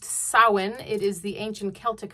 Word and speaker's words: Samhain: Today is the Day of the Dead, All Saints Day, the Feast of All Hallows, also Samhain, which you may read as Samhain. Samhain. It's pronounced Samhain.